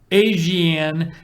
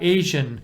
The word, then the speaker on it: ASEAN: Tudsbury says, I learned a new way to pronounce ASEAN, not Asian.